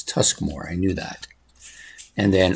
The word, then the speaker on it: Tuskmore: Sorry, I always want to call it Tormusk. It's Tuskmore.